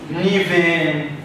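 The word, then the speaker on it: ⲛⲓⲃⲉⲛ: حرف من العمود الاولاني بنطقه ف زي كلمه نيفين نوفي نيفين يعني كل ونوفي يعني خطيه نوفي يعني خطية، نيفين يعني كل.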